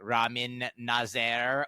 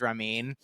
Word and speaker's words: Ramin Nazer: funny because you know his name name is Ramin ner and sometimes people will pronounce it like Ramin nazer or you know sometimes sometimes then he will lean into it and be like I'm Ramon his name's ramine yeah um and I